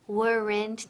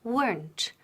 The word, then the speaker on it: weren't: Now, ojo, la pronunciación, weren't. Una sílaba, no dos. No decimos weren't ni weren't, ¿ok? Decimos weren't, weren't, y con T al final.